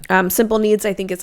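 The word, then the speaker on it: Simple Kneads: online and then another really good option is simple needs and it's spelled like k n e a DS so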